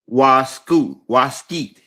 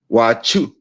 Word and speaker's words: wasichu: Waskeet spelled WASICHU. So I guess you could pronounce it Wachu.